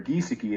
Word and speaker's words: Giesecke: You'll notice here that Adolf Giesecke, or Giesecke as he pronounced it when I spoke to him on the phone, I have X's all